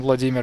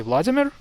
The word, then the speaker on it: Vladimir: So you, in 2 words, you manage to get all of the emphasis wrong. Instead of saying Vladimir, you say Vladimir, but instead of saying Putin, you say Putin. So here you moved the emphasis to the first syllable, as it probably is